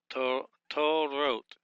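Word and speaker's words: תּוֹרוֹת: We start out with the tav, which is this is a dagesh lane, and the hole and vav. It's a long syllable right here. Break that. Start again with the resh, the hole and vav, and the tav.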